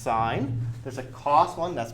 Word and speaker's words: sin: these boxes here there's a sin one is pronounced sine there's a cost one that's pronounced cosine there's